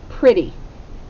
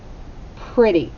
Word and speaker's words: pretty: blend at the beginning now it's spelled with an e it sounds like an